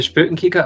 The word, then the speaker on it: Spoekenkyker: So I'm the Spökenkicker on most of my social media. You pronounced it perfectly, by the way.